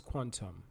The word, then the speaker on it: QTUM: quantum so it's actually the word is actually q t u m but it's pronounced as quantum it's a hybrid blockchain